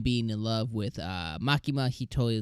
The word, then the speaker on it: Makima: me in the comments makima her name is makiba makima uh I'm so sorry I'm so sorry erase